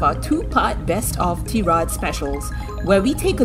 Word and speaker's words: Tirade: tierod and my do it's not pronounced I read or TV but tierod the way we like